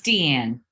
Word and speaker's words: Deanne: Oh, Diane, I'm just so excited to talk. Is it Deanne or Diane? It's Deanne.